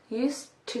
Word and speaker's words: used to: So that means we say used to do. Here is a quick point about pronunciation. The sound at the end of the word used sounds like a t sound.